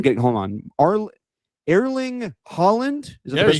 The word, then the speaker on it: Erling Haaland: Arl- Erling Haaland? Is that the way you say his name? Erling Haaland.